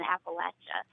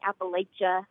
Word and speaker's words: Appalachia: it anything other than Appalachia. When I hear someone say Appalachia or Appalachia or however they pronounce it, to me, that signifies that person is not from the Appalachian region.